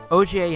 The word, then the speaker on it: Ogier: His name is pronounced Ogier. It's supposed to be French.